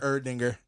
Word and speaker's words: Erdinger: not his dinger, but Erdinger.